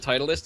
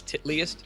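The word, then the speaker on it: Titleist: Like Titus isn't Titalist. It's Titlyist.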